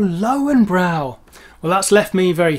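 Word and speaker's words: Löwenbräu: and actually ordered some asked for some northern boys cans of luvenboy and didn't really get very far because the shop assistant had no idea what he was talking about until he pointed to the cans of oh lowenbrow well that's left me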